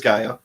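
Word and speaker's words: G'iah: character yeah yeah which I struggled with pronunciation was a guilla was a guy I've heard it say both ways but it is Gaia said enough for the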